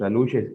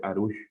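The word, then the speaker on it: alux: Y en esta conferencia él hacía alusión a los aluches, o decía que es más la pronunciación, que de hecho el correcto debería ser arush, con una R.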